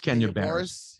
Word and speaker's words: Kenya Barris: it's with uh Kenya bars oh yeah it's Kenya bear so it's a scripted comedy right right how would you call him Billy Boris I didn't know how to pronounce it yeah it's Kenya Barris he's he's Russian I said Boris not Boris